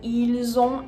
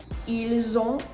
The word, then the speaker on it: ils ont: So similar to vous êtes, you're going to hear the liaison, the S as a Z sound, after nous, vous, il, and elle.